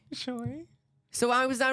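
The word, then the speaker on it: Chuy: Choy. Choy.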